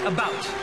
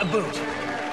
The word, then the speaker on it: about: french not american and i pronounce it about not a boot i can proudly sow